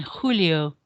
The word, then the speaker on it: julio: sound so it's martho then there's the j sound in spanish which is more of a sound so and julio rather than what we would say in english junior so we're not going